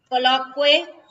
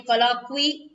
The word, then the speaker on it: colloquy: Next one, colloquy. If we say colloquy, actually the correct pronunciation is colloquy.